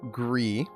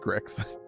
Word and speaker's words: Gris: Welcome to Gree, not pronounced Grizz. Um, you know, I realize we we are just assuming that this is is is pronounced Gree. That's the assumption that everyone's made. That is pronounced Gree, right? Like the color gray, which I think is significant.